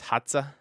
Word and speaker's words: Hadza: around the hadza tribe I believe it's spelled h-a-d-z-a maybe it's hotza anyway this tribe of